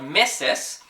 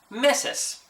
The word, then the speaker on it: meses: So they take that S at the end of meses, and they just choose not to pronounce it.